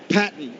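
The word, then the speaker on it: Paton: No, it is pronounced Patton, even though it's spelt P-A-T-O-N.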